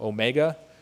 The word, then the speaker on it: AuMEGA: It's deliberate, you know, Omega is how you pronounce it and that's what we're looking for is to find the next big deposit in in Newfoundland.